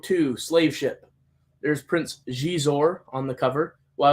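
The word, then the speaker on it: Xizor: slave ship there's Prince gizor on the cover well I always pronounces zizer until people corrected me forcefully um now we've got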